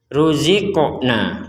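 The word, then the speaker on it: رزقنا: Ya, hadza hanya panjang, dzalladzi dzinya panjang, ruziqna qafnya di sini kita baca dipantulkan atau dimentalkan. Jadi tidak sekedar ruzikna, kurang, harus ada pentalan.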